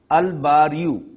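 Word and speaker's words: البارئ: The examples are Al-Bariyu, Al-Basitu, Al-Basiru. All these three are the divine names of Allah subhanahu wa ta'ala. Al-Bariyu, look, Lam is being pronounced.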